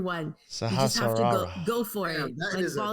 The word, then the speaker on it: Sahasrara: Pronounce this. Our last chakra, Yes. the crown chakra, aka the Sahasrara chakra. Gesundheit. I know, right? Fucking holy. It's like the most awkward one. You just have to Sahasrara.